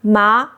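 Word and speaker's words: 麻: Second tone, ma, means hemp, a plant fiber. Third tone, ma, means horse, the animal we ride.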